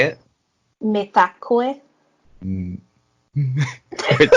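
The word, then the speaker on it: Mitakuye: Metakue. Mm. Wait, say it again. Me? Yeah, say it again. Metakue. Mitakoi.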